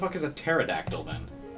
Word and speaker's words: pterodactyl: __ ] is a pterodactyl then oh yeah there we go oh i'm just spelling it wrong the p is silent okay what is this